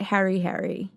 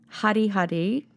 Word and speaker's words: Hari Hari: I used to call it Harry Harry, which I didn't realise at the time, but Hari Hari, because I was pronouncing it wrong, is actually a town on the west coast.